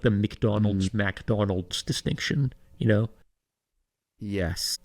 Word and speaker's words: McDonald's: MAA person I think cuz a real a real Trump head would say McDonald's because they know how to pronounce it correctly because it's their favorite person's favorite food but the Boomers want to say MacDonald's because it feels right yeah so who's saying